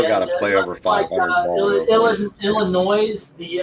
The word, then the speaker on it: Illinois: today they've still got to play over 500 Illinois the s I hope your wife beats your